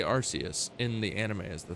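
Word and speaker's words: Arceus: And in the case of Arus, I think that that applies because again, Archus just sounds so aggressive. But Arus just sounds so good. It's so like the nice soft C sound, the soft like S sound that it makes. It just is it feels better. It feels better to say than Archus.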